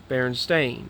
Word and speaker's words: Berenstain: Even when in elementary school, and when I saw the books in the library, and yet I wondered why they pronounced it Stain when it was written Steen.